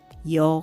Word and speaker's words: ㅕ: Và nếu bạn thêm một dấu chấm nữa vào từ ㅓ[∂], nó sẽ trở thành ㅕ và đọc là yeo .